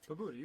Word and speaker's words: Pobuta: So real quick, how do you say your last name so I get that right Pobuta, the rest of the night?